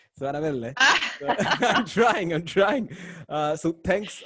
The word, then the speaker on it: Anabella: So again, give me your name in the Spanish, the Panamanian Spanish way to pronounce it. Anabella. So Anabella.